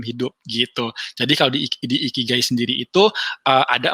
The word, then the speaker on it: Ikigai: buat ngebaca yang namanya Ikigai atau Aikigai bacanya gitu. Kalau gue sih baca bisa Ikigai sih.